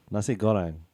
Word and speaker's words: nasi goreng: say You're can I get a saying nasi Goran. goreng? You're Can I saying get- Goran can- wrong, by the way. I'm gonna. How do you say it? You say it then. Nasi Goreng.